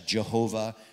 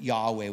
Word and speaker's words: Yahweh: hebrew values such as jehovah but it's column jehovah he's been called worse that's fine but yahweh would be the most accurate pronunciation for his covenant name um and so we